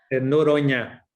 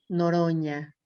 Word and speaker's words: Noronha: Noronha. Noronha, La NH en portugués es como la ñ con tilt. Noronha.